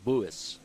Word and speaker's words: Buis: Yeah, it's actually kind of pronounced Buis. Buis. Yeah. I know it's hard to do, but it's almost like boy us.